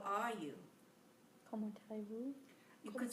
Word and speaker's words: comment allez-vous: Comment allez-vous?